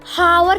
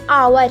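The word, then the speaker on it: hour: कुछ बच्चे आवर को हावर कहते हैं। हावर को जब हम हिंदी में लिखेंगे तो ह, क्योंकि हावर कहते हैं, ह आता है जब वो प्रोनाउंसिएशन करते हैं तो। लेकिन इसका सही प्रोनाउंसिएशन आवर है।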